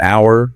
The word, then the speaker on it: hour: We say an hour because the H is silent.